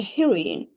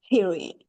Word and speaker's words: heroine: Is Adolf and Nora's mother an heroine? Here the wrong one is an heroine. We pronounce here he, her. That's why we write not an but a heroine.